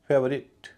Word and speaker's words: favourite: Syllable हल्का होता है, जैसे FAVOURITE। और इसमें ITE से पहले OU है, OU का उच्चारण अ हो रहा है, और उससे पहले जो है FA, इसका उच्चारण ए हो रहा है। फेवरेट, कई लोग इसे फेवरेट कहते हैं, गलत कहते हैं, इसका उच्चारण फेवरेट है।